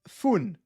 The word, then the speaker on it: Fein: Alan Klein says, Fein is pronounced Fun.